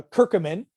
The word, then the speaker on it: curcumin: a nutrient called and people pronounce it different it's just like tomatoes and tomatoes i call it curcumin some people call it a curcumin some people call it whatever it's a spice that's